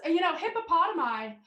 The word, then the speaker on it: hippopotami: I would say that this perhaps hippopotami is that the proper pronunciation? That is the proper.